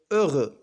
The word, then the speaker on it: heureux: والحرف الأخير X لا ينطق.